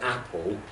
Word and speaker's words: apple: particular word like for example it's the first syllable in Apple that stress isn't it and I mentioned that